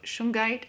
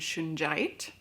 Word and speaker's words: shungite: stone of clearing now this is a gemstone that can be pronounced two different ways i've heard it both shungite and shinjite i've heard them both